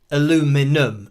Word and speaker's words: aluminum: And the different ways of saying things, like aluminum, or maybe in the USA you spell it differently, so there is actually spelt aluminum, so you're getting away with the aluminium, which is what it is here in the UK.